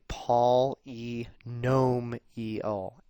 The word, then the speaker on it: polynomial: here we go a polynomial right and i tried to spell that out for you paul e gnome e o accent on the gnome right a polynomial expression